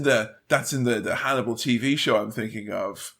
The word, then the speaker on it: Hannibal: so she's TR to Hannibal Lector whose name rhymes with cannibal which I which came